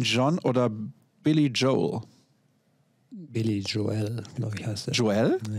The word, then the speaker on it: Joel: Billy Joel, glaube ich, heißt er. Joel? Ja, ich meine, der wird sich so ein bisschen, der ist die Betonung, glaube ich, eher auf dem E.